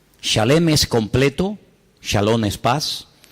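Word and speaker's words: שלם: esa palabra no es se escribe Exactamente igual que la palabra shalom con las mismas letras Exactamente igual pero se pronuncia diferente shalem shalem es completo shalom es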